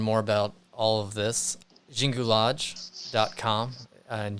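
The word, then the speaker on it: Xingu: about all of this Jingu lodge calm and Jingu is spelled Xin Jie you so Jingu ROG calm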